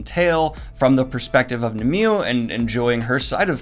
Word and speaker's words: Nimue: Also, unfortunately, I called the main character the way I pronounced her name growing up as a kid, Nimue, not Nimue, which is the way it's said in the show and in the authorian legend.